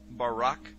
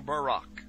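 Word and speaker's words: ברק: brightness or a glittering the Hebrew word is Barak so lightning or a flash of light in Hebrew is pronounced Barak or Barack now consider this amazing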